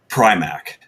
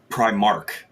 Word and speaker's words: Prymak: I rarely hear it pronounced correctly, and everybody tries to add R's into it more than one. Oh, Everyone wow. tries. Everyone always tries to actually make it Primark, Oh, and I'm okay.